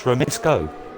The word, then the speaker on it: Remitsko: I can pronounce it right. It's Remitsko. He's already told me I pronounced it right.